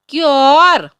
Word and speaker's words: cure: CURE, क्योर।